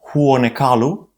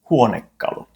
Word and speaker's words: huonekalu: Not huonekalu, but huonekalu.